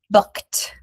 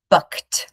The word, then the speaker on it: booked: That becomes booked. booked So we don't say book-ed, we say booked.